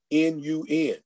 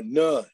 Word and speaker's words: Nun: at the beginning of that is the word N-U-N. And you probably would pronounce it the way they wanted you to pronounce it correctly, which is nun or none.